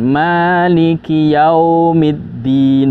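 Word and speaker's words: مالك يوم الدين: Liki itu pendek ya. Kadang sebagian orang membacanya maliki yaumiddin ya. Dia bertahan di huruf kaf. Dan ini sudah memanjangkan dan itu akan mengubah makna dari ayat tersebut. Itu kesalahan fatal ya. Maka kita pendekkan.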